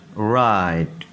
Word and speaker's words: write: Right, right. इसमें जो शुरू में W है ये साइलेंट है, इसको नहीं पढ़ा जाएगा।